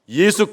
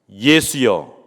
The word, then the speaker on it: 예수: 명칭을 주의깊게 살펴보시기 바랍니다 예수여 예수 무슨 뜻이죠 수아라고 하는 히브리어의 헬라식 발음이 예수라고 하는 뜻입니다 여호와는 구원이시다 하는 뜻이죠